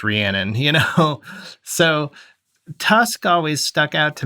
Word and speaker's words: Rhiannon: titled Rhiannon, but you don't even know it's pronounced Rhiannon.